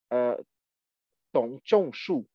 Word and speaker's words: Dong Zhongshu: I see that you know the Gongyang Zhuan interpretation, because Dong Zhongshu was Dong Zhongshu, to pronounce correctly, was the major philosopher linked to the Gongyang interpretation precisely.